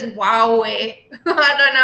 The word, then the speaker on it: Huawei: I think I said Huawei wrong. I think it's Huawei.